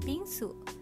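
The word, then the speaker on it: 빙수: Then I learned that shaved ice dessert is pronounced Bingsu in Korean Exactly the same as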